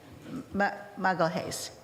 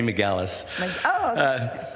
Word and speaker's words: McGallis: um now we'll have muggle hayes i hope i probably didn't say that right so maybe you could say it tried to help by writing it phonetically this time it's mcgallis good evening mayor and